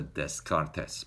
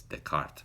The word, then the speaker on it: Descartes: I saw his name I pronounced the des contest but I didn't know I don't speak any French but I found out later that it's the cart but anyways the point